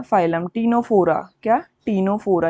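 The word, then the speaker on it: Ctenophora: उसको बोलते हैं फाइलम टीनोफोरा। क्या? टीनोफोरा। यहाँ पर सी जो है वो साइलेंट रहती है, तो इसमें ध्यान रखना फाइलम टीनोफोरा।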